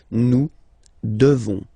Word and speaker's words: devons: Classic ending ONS for nous. Okay? You just pronounce this on, on, this nasal. Okay? And then the S, final S is not pronounced. Nous devons.